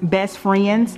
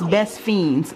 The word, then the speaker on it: Best Fiends: by playing best fiends I know it looks like it's pronounced best friends but it's best fiends without the ark so there you go